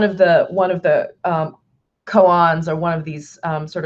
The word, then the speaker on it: koan: or a Zen koan I think Cohen is the correct pronunciation of it as I was corrected by one of my students once when I was talking about this so when Zen Cohen is a story or